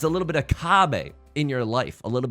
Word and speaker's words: kabe: It's a little bit of Kabe in your life, a little bit of Sandra's All I Need. And it's spelled K-A-B-E in case you want to look it up and level up your Mahjong gameplay.